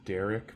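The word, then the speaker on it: D'Eriq: It's Derek, but it's spelled D''ERIQ, right?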